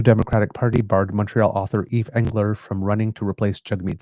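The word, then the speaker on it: Yves Engler: not to be, is Eve Engler. And that's not Eve, E-V-E, but for the French pronunciation of Eve, Y-V-E-S.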